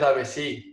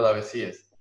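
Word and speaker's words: Davezies: Aparentemente el original es Davecí, porque es francés, Ah, pero yo le digo Daveciés.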